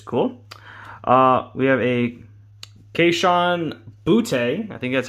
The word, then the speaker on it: Boutte: I said Boutte the first time. I think it's Booty. It might be Booty. I'll have to go back and look. I think the announcer said Booty, which is a great name for kids.